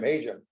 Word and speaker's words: Hajim: Hajim's much nicer, it's a great sounding, but it's unfortunately like yelling for Jim, Hajim.